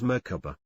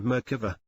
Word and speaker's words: Merkaba: It is seen in other cultures as Merkaba, Merkaba and Merkava. There are several pronunciations, but generally you pronounce it as if the three syllables are separate, with equal accents on each.